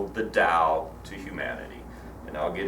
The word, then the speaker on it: Tao: over each chapter the first one is the Dow itself and again it's spelled ta o oftentimes sometimes you'll see a